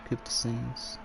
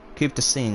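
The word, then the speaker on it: Coupe des Signes: I don't think they pronounce the ES. And then the GN is like pretty sure Rue actually mentioned how to pronounce that. Good old Rue. You're our MFF Rue. Yeah, so the GN sounds like a blocked nose.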